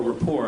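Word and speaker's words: Colbert Report: coar report but uh or Rapport I guess is the proper pronunciation uh we're delighted that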